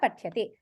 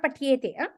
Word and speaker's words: पठ्यते: Patyate, not patyete. Patyate. Patyate. You have to be very careful in the pronunciation because if you say patyete, it becomes dvivachanam. So it is patyate.